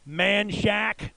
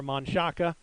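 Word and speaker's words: Manchaca: prime examples locally are austin's manshack for monsaca san jacinto for san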